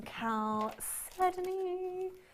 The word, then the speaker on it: chalcedony: We've got some chalcedony. You have to say it like that, you see.